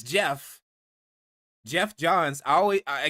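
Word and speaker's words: Geoff: I always pronounce it Joff because that's the way it looks but it's Jeff.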